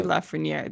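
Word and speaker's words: Lafrenière: think it's a lexi lafreniere okay that makes no sense but okay sure okay left for near that's what the pronunciation guide on hockey references okay let's do it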